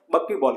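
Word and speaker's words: buckyball: इसलिए इसको अपन कहते हैं डिनोट करते हैं या प्रोनाउंस करते हैं बक्कीबॉल के।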